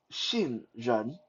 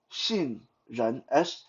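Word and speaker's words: 杏仁: mandarin almond is called shin jeon shin jhan x-i-n-g-r-e-n shinjan x is pronounced with a s-h kind of sound xinjiang now those two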